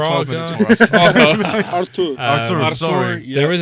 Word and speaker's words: Arthur: Abel Ruiz, who was And they've obviously got previously Arthur, who of played 12 Braga. minutes for us. Artur.